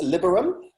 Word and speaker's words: Liberum: And I haven't heard, is it Liberum? I haven't heard you pronounce it out loud. It's Liberum. Liberum.